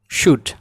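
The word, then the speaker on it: should: কিছু বর্ণমালা আছে, কিছু শব্দের ভিতরে কিছু বর্ণমালা থাকে যেগুলো উচ্চারিত হয় না, যেমন এক, শুড, শুডের এল উচ্চারিত হবে না, উড।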